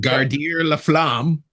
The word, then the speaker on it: Garder La Flamme: It's called Garder La Flamme or Garder La Flame, or the French pronunciation, Garder La Flamme.